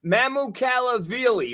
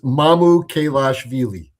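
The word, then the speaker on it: Mamukelashvili: Mamu Cali, right? Sando Mali. There you go. See, Christina Christina saying we don't know how to say it. Well, it's it's Mamu Kaashi.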